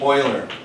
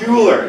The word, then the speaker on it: Euler: It's not Euler, it's Euler, okay? So it's pronounced oil, because it's Swiss.